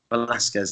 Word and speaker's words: Velasquez: I have trouble pronouncing Cain Velasquez. Velasquez, there you go.